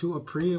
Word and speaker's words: Apree: Today's video, we're going to be reacting to eating during virtual interviews by, I think, Apree. What's his name? His name is, Apree. I said it right.